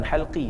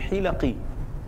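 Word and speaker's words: حلق: Sebenarnya bukan halqi, sebenarnya hilaqi. Buat bulatan dalam masjid. Buat halaqah-halaqah zikir dalam masjid. Buat halaqah bentuk bulat, ganggu orang nak nak duduk saf depan. Dia baca halqi, sebenarnya hilaqi. Ejaan sama, baris salah.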